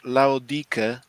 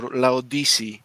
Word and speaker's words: Laodike: will see that Laodike or Laodice, depending on which pronunciation you want to go for, she has the lowest out of 8 all revealed.